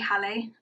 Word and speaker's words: Hallie: I think it's actually Hallie. I think I said her name wrong. Hallie.